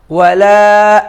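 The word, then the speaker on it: وَلَا: ওয়ালা আনতুম, এখানে অলা নয়, ওয়া। এর আগেও একটি সূরার মশকের সময় আমি এটা বলেছি। ওয়ালা আনতুম, ওয়ালা আনতুম আবিদুনা মা আ'বুদ। আনতুম আবিদুনা, আবিদুনা নয়, আবিদুনা মা আ'বুদ। ওয়ালা আনা আবিদুম মা আবাদতুম, আবাদতুম।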